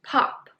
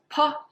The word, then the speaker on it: po: Bo is for bop, po is for pop, mo is for mop, fo is for follow. Well, bo and po, these two are very similar, but then the